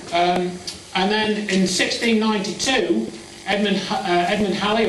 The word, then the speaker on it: Halley: And then in 1692, Edmund Halley, or Edmund Hawley as some pronounce it, put forth the idea